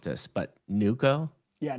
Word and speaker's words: Neuko: a is it so I don't want to mispronounce this, but NuCo? Yeah, NuCo, like new Okay.